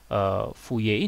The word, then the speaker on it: Fourier: Tulisannya Fourier ya, tapi bacanya Fourier.